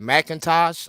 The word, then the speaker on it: McIntosh: does this name how do you say that macintosh like the computer yes yes exactly